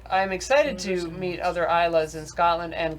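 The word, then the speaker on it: Islay: excited to meet other isas in Scotland and go to ISA the island which is spelled is yeah but I want to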